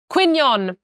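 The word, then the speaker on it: Quy Nhơn: no how do you say it n Quon quinon that's it tip me a second I'm currently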